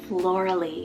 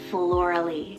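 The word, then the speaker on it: Floralie: Or if you want something a little bit more unique, I have the name Florally, spelled F-L-O-R-A-L-I-E, Florally.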